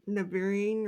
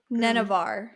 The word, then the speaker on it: Nenavar: Because they mention her going back to the place she's from, and that is what then started the war in Navarine or whatever. Nenevar.